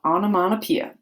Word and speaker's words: onomatopoeia: All right, fifth grade, we are talking this week about onomatopoeia.